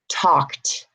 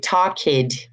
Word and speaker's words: talked: IDI you're gonna see talked talked talked do you hear the less sound it's not a D is it t talked I'm not saying talk kid you see talk kid